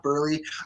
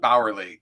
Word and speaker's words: Bauerle: your name right cuz I've always called you Burley or Barley or Barley or I don't know. How do you say your last So does So does everybody else. It's Bowery, technically, but you know, just works.